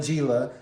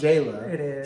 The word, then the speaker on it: Jela: Um, she just, you know, she t she called her Jila. I'm sure it's pronounced Jayla.